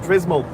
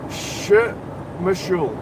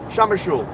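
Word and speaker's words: Przemyśl: to in the border, which I kept on calling Prismal, but apparently it's pronounced It's pronounced something like Shumashul, Shamashul. It begins with a P, but it's pronounced Shumashul, Shamashul, like something like that.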